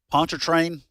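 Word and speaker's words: Pontchartrain: the northern shore of Lake pontrain that's how you pronounce that South to the Mississippi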